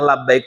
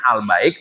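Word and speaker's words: لبيك: Akhirnya karena cuma paham Al-Baik, bukan baca talbiyah labbaik Allahumma labbaik, bacanya Al-Baik Allahumma Al-Baik.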